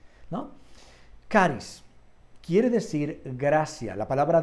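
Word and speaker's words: χάρις: Se escribe charis, pero se pronuncia charis. También hay otras versiones depende en qué, como otro dialecto, no depende en qué lugar, pero en otros lados el mismo charis lo dicen como con J, charis, ¿no?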